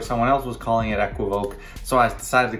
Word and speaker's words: equivoque: equivoke in that video there's about three different ways that people say this word if you ask siri how to say it she'll say equivoque i think equivocae sounds a lot better